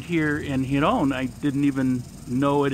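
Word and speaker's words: Girón: I'm down here at the park in Giron, accent on the second part, and showing my camera that I actually don't use anymore to a man who wants to buy it.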